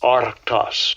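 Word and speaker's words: ἄρκτος: Arctas. All right, Esau. That's how you pronounce it. Okay. Arctas, which means a bear.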